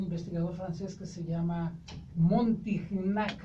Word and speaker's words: Montignac: Hay tablas de alimentos, Araceli, incluso hay una tabla de un investigador francés que se llama Montignac, así se escribe, Montig con G, Nac, o Montignac.